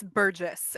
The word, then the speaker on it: Burgess: Is it Burgess or Burgess? It's Burgess. It's not as fancy Burgess. as Burgess. It's just Burgess. Okay.